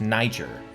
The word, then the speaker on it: Niger: how to say it it's pronounced Niger the Niger is what